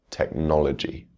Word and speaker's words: technology: and words ending in G, technology.